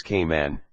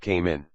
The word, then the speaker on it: Cayman: along the marl Road locals pronounce caiman as ke men and not came in c-came and turtle farm